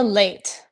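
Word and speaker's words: Leite: Because between now and Saturday, the status of Carla Lite, did I pronounce that correctly? Carla Late. Like Late, you're I just apologize. late for work.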